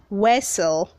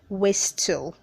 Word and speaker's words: whistle: Word 476 is pronounced whistle. Say whistle, don't say whistle. The T is silent.